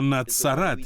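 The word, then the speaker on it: נצרת: говорить що він був з Назарету або нацарат якщо говорити на івриті тобто тут нічого спільного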